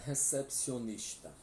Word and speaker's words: recepcionista: Então agora vamos para recepcionista. A mesma escrita, a mesma pronúncia. Né, Sinésio? El recepcionista ou la recepcionista. Quase a mesma pronúncia, porque o R tem que ter o som vibrante.